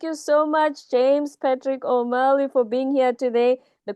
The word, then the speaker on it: O'Malley: would be my LinkedIn, which is James Patrick O'Malley, altogether, Omalley.